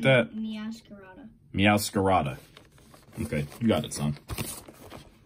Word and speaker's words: Meowscarada: MeowScarada or something like that? MeowscaradaEX.